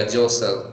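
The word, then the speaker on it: jostle: Okay, when you गो to Delhi bye बस डू यू जोशल इन द बस? या जोसल, टी is silent here, right?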